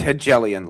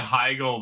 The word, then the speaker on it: Hegelian: the point where you did pronounce it incorrect. It's it's Hellian logic. All right. I I think I said I think I said Higgel the first few times I read.